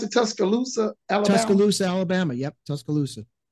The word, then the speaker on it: Tuscaloosa: how do you pronounce it? Tuscaloosa, Alabama? Tuscaloosa, Alabama.